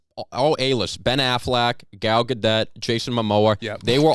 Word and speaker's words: Gadot: The big, wait, how do you say Gal Gadot? Gal It's Gadot. It's close. Yeah.